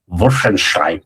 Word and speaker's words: Wolfenstein: And so like whenever this one editor says Wolfenstein, he always says it he always insists on Venstein, you know, Wolfenstein. Yeah. The the real German one.